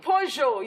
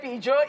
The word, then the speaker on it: Peugeot: Peugeot, you say Peugeot in Nigeria, Peugeot, it is Peugeot.